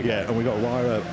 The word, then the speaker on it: Huayra: Huayra? There we go. Yeah, and we've got Huayra R also on the hill, you might see.